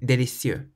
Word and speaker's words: délicieux: When you pronounce them, make sure you emphasize the final syllable. In English, we say perfect and delicious. In French, you say parfait and délicieux.